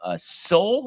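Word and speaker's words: Seoul: so we had another uh game uh from Soul is that how you pronounce it Tony correct uh Soul Korea here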